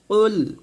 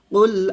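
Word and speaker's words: قل: calf উচ্চারণ করি তো কফকে কাফ উচ্চারণ করা যাবে না এটা কফ কুল কুল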